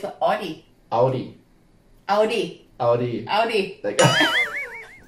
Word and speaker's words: Audi: body it's like so it's an Audi Audi Audi Audi Audi like Audi yeah okay